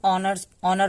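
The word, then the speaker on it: honor: तो देखिए, इसको हम ऑनर पढ़ेंगे, ऑनर। यहाँ पे ओ के पहले एच है तो एच साइलेंट होगा।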